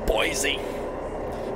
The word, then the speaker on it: Boise: mike's cringing right now it's boise with the z even though it is spelled with an eye and followed by an s yeah that's what